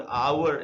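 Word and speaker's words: hour: N over ये श्री तो हा से हो रहा है लेकिन हा साइलेंट है इसीलिए ओ का साउंड अवर ऐसे साउंड ए रहा है इसीलिए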